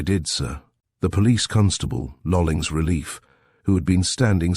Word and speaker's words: Lolling: I relieved Police Constable Lolling at about 8 p.m, and he informed me of the incident. He accented the second syllable.